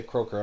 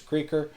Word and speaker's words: Kroeker: I keep on wanting to say Kroeker. I'm sorry, it's Kroeker. Well, it's spelled Kroeker, so that confuses people. Just it rhymes with breaker, but it's spelled with an O.